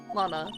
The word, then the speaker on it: Lana: Hi l Lana Lana Lana is how you say that name I know that I